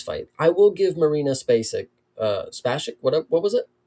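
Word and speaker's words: Spasić: I think it's Spasich, but it's the regional pronunciation. So you got to give us a little bit of leeway here with some of the ways that these letters are sounding out because they're spelled one way, they're pronounced another way.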